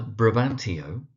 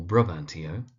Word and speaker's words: Brabantio: We have either Brabantio or Brabantio, so it's either Brabantio or Brabantio.